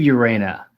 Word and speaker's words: Urena: how do you say your last name urena and thank you for having me on but